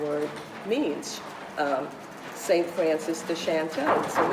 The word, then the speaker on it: Chantels: It had a more sophisticated sound than the flattened A of Chantel. So once we got it together, so you said, oh, that sounds good, the Chantels. And we were the Chantels. Nobody pronounced it correctly. They flattened the A and made us the Chantels.